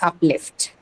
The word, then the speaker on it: uplift: So again, in this case also, we're going to mark it on lift, the second syllable, right? Uplift.